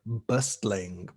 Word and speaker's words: bustling: In a similar way, we also have this adjective, bustling. Bustling, the T is silent.